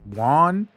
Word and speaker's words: Wang: It's WANG, not WANG.